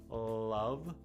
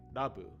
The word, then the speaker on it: love: So we have love, love, which in Japanese you would probably pronounce something like dabu, dabu. So try to pronounce dabu and love. See how la, the tongue goes up. You don't want the tongue to go up, you want it to stay centered, la.